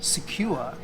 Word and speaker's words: Siquijor: Well, having been here for 2 days, I've realised that secure is pretty much the way people on the island pronounce Siquijor. Secure.